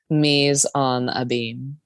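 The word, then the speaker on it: mise en abyme: to say the title Ms and a beam Mees on a beam and what is a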